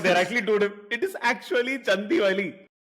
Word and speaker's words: Chandivali: It is actually Chandivali. How do Yeah, you, as a Malayali, not? How do you keep a straight face when you drive past Chandivali?